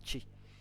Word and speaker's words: chi: Então, o ti, apesar de ser a mesma pronúncia como se tivesse um T, né, TI, a gente escreve romanizado dessa forma aqui, né, chi.